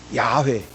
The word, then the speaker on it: 야훼: 하나님을 가르칩니다 여호와 여호와 우리가 여호와를 원래 발음으로 하면은 야외거든요 야외 야훼 원래이 히브리어는 말이죠 자음만이고